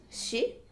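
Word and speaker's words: し: we pronounce it as she so for English speakers it's more like s h i sound so it's on the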